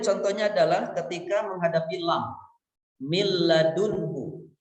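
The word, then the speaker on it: مِن لَّدُنكَ: adalah ketika menghadapi lam mil ladunka Min ladunka merupakan cara bacanya adalah leburkan bunyi nun sukun itu tepat dalam mil ladunka seolah-olah not itu hilang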